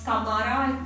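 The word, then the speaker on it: Camara: The major port of the Chola area was Kamara, that's how it's pronounced, C-A-M-A-R-A, and this is Puhar or Kaveri Pattinam.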